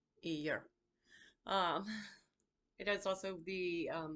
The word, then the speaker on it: Eadha: Eeyur is spelled Eadha, but it is pronounced Eeyur. Eeyur.